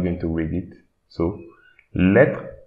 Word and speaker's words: lettre: So here we should not read this E, but instead we should read the TR. So lettre, lettre.